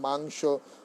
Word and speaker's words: মাংস: হয়, উচ্চারণ হয় না, এর উচ্চারণ হবে অং, অঙ্গের মতো উচ্চারণ হবে। যেমন সংবাদ, হিংসা, মাংস, বংশ, ধ্বংস, অং, অং,